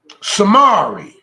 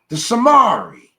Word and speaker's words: Zemarite: Samari. See that the T is silent? The Samari.